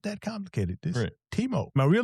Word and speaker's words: Timo: This Teemo, my real name is Timothy, but I've gone